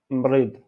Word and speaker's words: مريض: Donc, ici, on a malade, personne malade, on dit mrid, mrid. Cette R comme mrid.